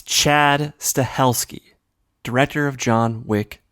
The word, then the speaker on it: Stahelski: director of John Wick Chad stahelski as Chad Sobieski like he's the father of ly sobeski no no Chad stahelski number two Joe manganelo